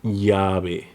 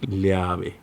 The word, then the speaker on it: llave: In most of Latin America, it sounds like a Y, like in yes. Similar to the Arabic letter Ya, like llave, or lluvia, lluvia. There are some regions in South America when it's pronounced a little bit different, like llave, lluvia. Or in Argentina and Uruguay, it sounds like llave, lluvia. All are correct.